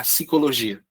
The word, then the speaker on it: psicologia: Você não pode colocar P, aí depois colocar psicologia. Não. Tá? Não é pi. A gente pronuncia. A separação silábica é psi.